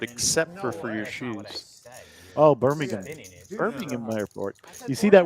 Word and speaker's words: Birmingham: Oh, Birmingham. Birmingham Airport. You see that word right there? How would you say that? Check. Even though you heard I'm me gonna mess it up because I'm gonna say Birmingham.